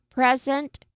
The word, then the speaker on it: present: So, it's um when we talk about a gift, it's wrapped in shiny paper, tied with a ribbon, and handed to someone with love or um um celebration. We stress on the first syllable because we're naming a thing.